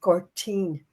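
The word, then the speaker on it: Gortin: We spell it gu. But in the Irish language, it's Gertine. Now Gertine. G O R T I for the N.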